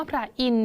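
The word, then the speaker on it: พระอินทร์: ออก เสียง นะ คะ คำ ว่า พระ อินทร์ เนี่ย ตัว ไหน ที่ ไม่ ออก เสียง คะ ที่ ไม่ ออก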